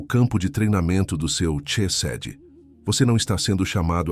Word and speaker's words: chesed: A palavra é chesed. Pronuncia comigo onde você estiver. Chesed, com o "ch" vindo da garganta, como em Bach.